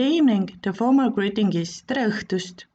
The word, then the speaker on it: tere õhtust: the former greeting is strelstust another special letter use the fake smile with open mouth uh dressed if you see a